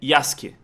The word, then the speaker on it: Yasuke: mas eu acho que a pronúncia correta é yask porque os japoneses quando tem o s u eles fica quase mudo né é tipo sasuk Então é yask só que provavelmente o